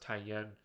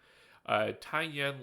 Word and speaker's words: Taiyuan: On October 17th, China launched Long March 6A into a polar orbit from Taiyuan, yeah, I think that's pronounced Taiyan. Taiyan Launch Center in Shaanxi, China, with 18 satellites on board.